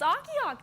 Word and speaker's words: Akiak: It's partly cloudy and 31 here in Akiak. We have another Akiak viewer. We do. Yeah, Madison was reading it, and she didn't know how to say it yesterday. It's like, it's Akiak.